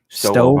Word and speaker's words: Stowe: Stowe, Ohio.